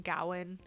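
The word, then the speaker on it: Gawain: knight i will say they say his name gowan in this movie which is totally fine um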